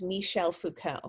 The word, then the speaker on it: Michel Foucault: bit um foucault is and his name is michel foucault french guy um so that's how you pronounce it he's well he's not around anymore